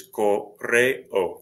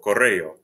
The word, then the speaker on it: correo: This one is correo, correo. The E and the O are separate syllables.